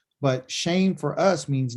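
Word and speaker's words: shem: is what they call shame which a lot of people think this means shim but it's shame okay you would think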